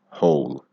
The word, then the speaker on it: whole: All, whole. Make sure you get that H sound and that O sound together.